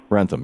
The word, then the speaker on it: Wrentham: He's a selectman with the town of Wrentham, Massachusetts. Wrentham, RENTHAM.MA.US. Robert, welcome to the program. Thank you. First of all, am I pronouncing your town's name right? Wrentham. Wrentham, yeah, okay.